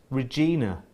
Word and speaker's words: Regina: Pronounced Ina as in Ina Shambles. Regina.